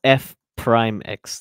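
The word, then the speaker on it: f′(x): oh forgot what this called This is called f Prime X that's how you pronounce it and uh I suppose this called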